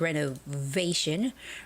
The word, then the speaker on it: renovation: And the word renovation has the stress on the v a part, which is renovation, renovation, renovation.